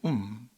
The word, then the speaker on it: womb: In a mother's womb, B는 묵음입니다. 어머니의 자궁 안에서 아이가 어떻게